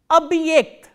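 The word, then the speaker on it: объект: The next word we are going to do is abhyekt, abhyekt. Abhyekt is spelled as O, B, hard sign, ye, k, t.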